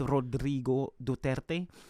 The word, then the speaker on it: Rodrigo Duterte: Okay, so since you were talking about Rodrigo Duterte, our president, I probably should pronounce his name right. It's Rodrigo Duterte.